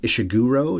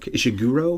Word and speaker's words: Ishiguro: diary even though it's not a diary kazuu ishiguro is how you say that ishiguro I've heard it pronounced honestly dozens of times while researching this